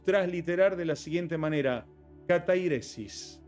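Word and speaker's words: καθαίρεσις: de la siguiente manera, katairesis. Esa es la palabra exacta, así se pronunciaría en griego esta palabra.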